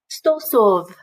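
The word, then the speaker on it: сто сов: Stosov.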